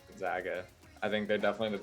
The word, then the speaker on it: Gonzaga: the best team and he's pronounced gonzaga actually just let you know gonzaga i think they're definitely